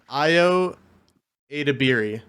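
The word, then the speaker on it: Ayo Edebiri: like that so Jace that that name is pronounced IO adabi okay she's playing April O'Neal ioa deiri Rose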